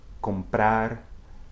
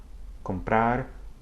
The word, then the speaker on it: comprar: Now, when it begins a syllable in a cluster with another consonant, such as B or P, okay, it has that same sound basically. Look at these examples. Comprar, contra. Comprar, contra.